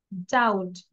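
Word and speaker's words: doubt: করবো হ্যাঁ ওকে দেন বিফোর টি টি এর আগে যদি বি থাকে সেই বি টা আমরা সাইলেন্ট লাগবো আমরা কি ডেপ্ট বলবো বির উচ্চারণ করবো no depth ডাউট ডি ও ইউ বিটি আমরা ডাউট বলবো না ডাউট date ডাউট date ডাউট সাথে সাথে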